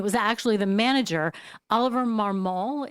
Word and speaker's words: Marmol: I mean, it was actually the manager, Oliver Marmol. Is that how you say his name? I don't know enough about him to know. It's Marmol. Oliver Marmol.